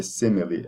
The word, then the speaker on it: simile: be an exception because you do not say simile, you just say simile, and the stress is on the front of on the first syllable, and then the E at the end is that what do you call it, the capital I.